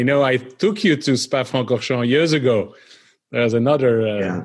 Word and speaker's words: Spa-Francorchamps: And that's a picture of him in his Eagle that won the Belgian Grand Prix at Spa, help me pronounce it, Spa-Francorchamps. It's close. Spa-Francorchamps.